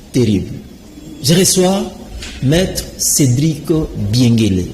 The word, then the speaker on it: Biengele: je reçois maître Cédric biengué je pas massacrer votre nom c'est biengué je prononce bien tout à fait prononce très bien d'accord maître Cédric je